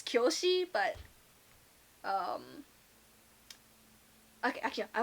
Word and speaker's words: Kyoshi: i guess in english everyone has been saying it as kiyoshi which is not how it says in japanese it's kyoshi but um okay actually